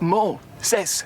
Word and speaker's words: Moses: Like Moses.